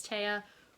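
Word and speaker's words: Tea: about a girl who named Tia or Tia. It's spelled T-E-A. There's like a accent mark over the A, so I think it's Tia, who is a necromancer.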